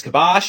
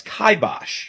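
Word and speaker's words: kibosh: Just like this word which many people pronounce as kibash or kibash but is correctly pronounced as kaibosh or this word which some people mispronounce as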